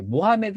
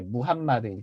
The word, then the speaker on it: 무함마드: 무한 마디 있잖아 이제 모하메드 아고 하면 이슬람 사람들이 싫어해요 영어식 발음이 그 아랍식 발음이 이제 무함마드 이렇게 이제 표현을 해야 된다고 하더라고요 무함마드가 승천한 것이 예루살렘의